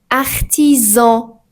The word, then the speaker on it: artisan: Mais si à il vient entre deux voyelles, il se prononce comme z. Par exemple, on dit maison. maison ou artisan artisan mais faites attention